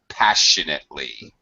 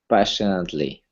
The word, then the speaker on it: passionately: it's an that's closer yeah sh sound passionately passionately there you go that was perfect I thought Jen was